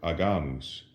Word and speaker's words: agamus: We say agimus or agamus. But in ecclesiastical Latin, the G is softened when it precedes either an I, as in this case, or also an E, as in the word agere.